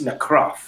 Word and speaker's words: Necröff: You have to say it really, Nekrov. Yeah. Got it. Nekrov. So we're gonna talk like this now, right? So Nekrov, tell me, what are your inspiration for the lyrics?